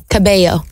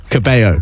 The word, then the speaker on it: Cabello: Your surname, every time I mention your surname on air, and I say Caballo because Shawn Mendes told me to pronounce it like that.